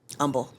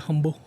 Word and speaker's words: Humble: Yeah, I'll be in um Umble. I'm excited about that. Where is that? It's like right outside of Houston. I always thought it was called Humble. You know, some people pronounce the H.